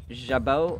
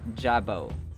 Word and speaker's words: jabot: For this word, we can pick up 2 pronunciations. It's jabot or jabot.